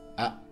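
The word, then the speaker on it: あ: Ah. It's the equivalent of the vowel a in English. It's pronounced ah. It's a short vowel.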